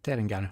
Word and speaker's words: Terengganu: And can't remember how to pronounce their name. I think it's Terengganu 0. Yes, Terengganu, I was right.